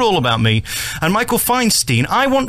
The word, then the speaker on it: Feinstein: It's called All About Me and Michael Feinstein. I want Feinstein, not Feinstein. It's Feinstein. No, but I prefer Feinstein. It's easier for me to deal with. Well, the name is derived from German and uh it's the